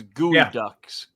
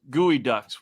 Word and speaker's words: Geoduck: It's spelled like Geoducks, but it's Gooey Ducks. Gooey Ducks.